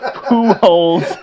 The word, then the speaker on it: Pujols: Albert Blank, referred to Albert Pujols, whose last name is pronounced like Pujols.